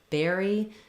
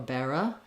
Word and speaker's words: berry: be helpful for you what we again have first syllable stress bare as long and E is shorter make sure that you're careful not to make this more of an if not bear or Bara but berry berry so even though it's